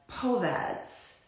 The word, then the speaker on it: POVAD: There's this new acronym that it's pronounced as POVADs. So it's P-O-V-A-D.